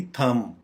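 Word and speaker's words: thumb: जैसे हमने क्लाइम में बी साइलेंट किया था, यहाँ भी थम में भी बी साइलेंट करेंगे और इसकी प्रोनाउंसिएशन बन जाएगी थम, थम, थम।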